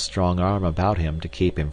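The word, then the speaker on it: arbre: was pronounced um and in the same way he was taught to pronounce ape Sange and tree AR he was a most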